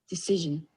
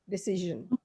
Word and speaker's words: decision: See, you can even read the pronunciation. This is Decision. Z. Decision.